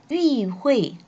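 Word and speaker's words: 与会: 위회 하면은 회의에 참석하다라는 뜻이에요. 원래는 위라고 해서 삼성으로 발음할 때는 누구누구와 혹은 무엇무엇과 라는 뜻인데 자 여기서는 사성으로 위, 회라고 해서 회의에 참석하다라는 의미입니다. 위회 领导人 회의에 참석한 지도자들은 짱 뭐뭐 할 것입니다.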